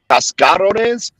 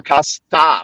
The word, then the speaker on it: cascarones: Is it cascarones or casta with like STA? Cascarones. No, it's a C. Okay. CASCO. It's CASCA. CA, yeah. RONES. Okay. Cascarones.